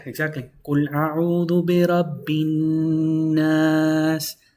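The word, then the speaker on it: النَّاس: Qul a'udhu bi rabbin nas. Nas, because you're pronouncing double noon.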